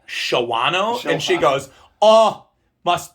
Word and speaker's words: Shawano: And I'm like, "Did you just pronounce it Shawano? Isn't it like Shawano?"